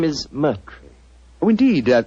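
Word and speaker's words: Murtry: you Doctor uh my name my name is merre Oh indeed spelled mu r t r y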